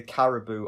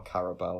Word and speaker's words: Caribou: Never Come Back by it's either Caribou or Carabao. I don't know how we're pronouncing this one. I've always said Caribou. Caribou, okay. I think it probably is Caribou. It's B-O-U in it. It should technically be Boo, yeah.